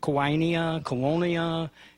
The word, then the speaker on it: quinoa: No, they butchered Quinoa. It's quinoa.